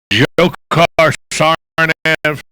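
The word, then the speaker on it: Dzhokhar Tsarnaev: Jokar Sarnaev.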